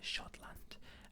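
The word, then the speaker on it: Schottland: scotland we're from scotland it's just s c h o double t l a and d uh shotland uh whales is wales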